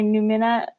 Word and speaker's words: Numina: I'm waiting to get dev edits back from my editor for the 3rd book in my Numina. That's how you say it. Numina.